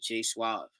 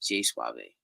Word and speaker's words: J Suave: It was J Suave, J Suave to be exact, but people pronounce it as J Suave.